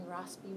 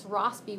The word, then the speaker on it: Rossby: I think the S is soft in Rossby waves, pronounced soft.